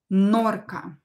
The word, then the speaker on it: норка: Дальше, норка, 17, норка, норка, ударение на букву О is stressed, норка.